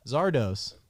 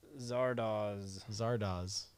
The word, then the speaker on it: Zardoz: So Zardos. Zardoz. I get the name wrong every time.